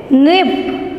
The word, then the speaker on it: नृप: फिर नृप, न के नीचे री की मात्रा है ना, तो ऐसे क्या पढ़ेंगे, नृप।